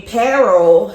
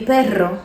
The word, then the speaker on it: perro: And instead of saying mi perro se llama Max, Mi perro se llama Max. okay, because the double R's requires an emphatic rolling of the tongue.